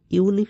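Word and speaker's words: unique: এখানে দেখো ইউনিক শব্দটা আছে। ইউনিকের আগে আমাদের আর্টিকেল লাগাতে হবে এ বা অ্যান। আর ইউনিকের উচ্চারণটা আমরা দেখব। ইউনিকটা হচ্ছে ইউ এর মতো উচ্চারণ।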